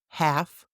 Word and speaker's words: half: L is silent after A or O, like in half, talk, walk.